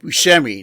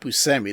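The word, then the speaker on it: Buscemi: Awards would we Steve that's Steve Bushi not bumi that guy said his name wrong what an idiot yeah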